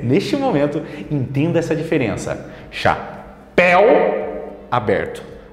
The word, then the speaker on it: chapéu: Perceba a pronúncia de chapéu. El, museu, eu. Chamamos essa diferença de aberto e fechado. Enquanto um cresce, né? El, o outro é parado, grave, eu.